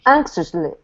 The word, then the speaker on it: anxiously: good one more time anxious with a cc anxious anxiously anxious anxiously it's it's not seos it's shush anxiously that's it good Jose